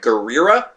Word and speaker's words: Gurira: denying camera can't uh couldn't pronounce his chicks and last name right gurira like Guerrero but but different I guess so I'm gonna say gurira and and oke a